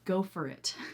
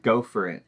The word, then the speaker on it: go for it: will say pronunciation wise some areas of America will say something more like go for it go for it the next one is